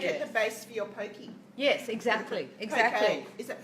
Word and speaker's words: poke: You can make it the base for your pokey. Yes, exactly. Poke. Is it poke or pokey? I think it's poke, but we all say pokey.